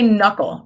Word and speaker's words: knuckle: knuckles right and of course the K is silent all right when you